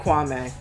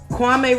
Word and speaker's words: Kwame: Kwame reminds me a lot of, and I gotta stop saying Kwame because apparently it's pronounced Kwame, but he's so similar